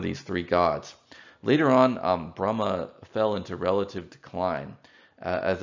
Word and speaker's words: Brahma: difference between them grammatically brahma has a long a at the end it's a masculine ending in sanskrit so it implies interpreting